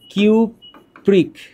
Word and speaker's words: কিউপ্রিক: এখানে বলতে হবে কিউপ্রাস, নামটা হচ্ছে কিউপ্রাস, আর এইখানে নামটা হচ্ছে কিউপ্রিক। কিউপ্রিক। তাহলে নামের শেষে উচ্চারণটা হচ্ছে আস।